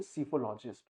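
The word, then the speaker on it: psephologist: यहां परकि P silent है तो इसको प्रोनाउंस करेंगे सिफोलॉजिस्ट।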